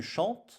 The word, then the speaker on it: chantes: Mais cette terminaison, attention, nous devons faire attention à ne pas prononcer le S qui est ici une lettre muette. Tu chantes.